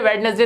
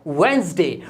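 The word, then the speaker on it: Wednesday: वेडनेसडे तो बहुत ही बोलते हैं सब, बुधवार को वेडनेसडे बोलते हैं, जबकि ये वेडनेसडे नहीं होता, इसमें डी साइलेंट होता है और ये बोला जाता है वेंसडे।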